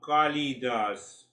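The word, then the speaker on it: Kalidas: Anyhow so kali das first you see that see the beauty of the eastern wisdom kali there are two syllables kali das the suffix means servant and kali means the goddess.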